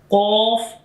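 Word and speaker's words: قاف: Qaf and Kaf. Both are sounds is similar but different is this accents. Qaf, when is coming with two dots, this is a bold sound and heavy sound of this Qaf.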